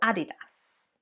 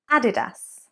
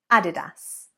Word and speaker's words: adidas: what do you say added us added us not adidas added us so there you can see we're actually stressing the third syllable rather than the second so that often is